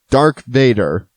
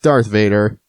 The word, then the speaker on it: Darth Vader: characters of all time dark Vador yes you heard me dark Vador not Darth Vader because I thought dark